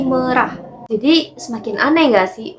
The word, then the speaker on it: merah: Nah, di kolom komentar dari channel YouTube Bang Indra Aziz juga, huruf E di kata merah itu bacanya nggak merah guys. Bacanya tuh kayak kata perah. Jadi pelafalannya tuh bukan merah, tapi merah.